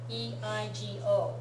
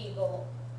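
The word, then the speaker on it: 英語: They did it because the pronunciation of this should be like this, right? Eigo. They don't want you to mispronounce it Eagle, because that's not how it's really pronounced.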